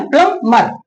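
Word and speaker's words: plumber: और देखिए प्लमर प्लमबर ब नहीं पढ़ेंगे। प्लमबर ठीक है ना? प्लंबर प्लंबर पढ़ेंगे।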